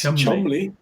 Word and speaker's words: Cholmondeley: Foster went to Gloucester is a rhyme taught to children to tell them that Foster rhymes with Gloucester, even though Foster looks very different from Gloucester. It's Chumley.